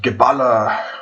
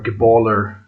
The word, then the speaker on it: Geballer: It's called Geballa, or Geballer, as the Americans pronounce it.